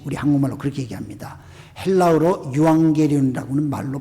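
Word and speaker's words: εὐαγγέλιον: 헬라어로 유앙게리온이라고는 말로 발음을 하는데 이 말은 좋은 소식, 영어로 good news죠.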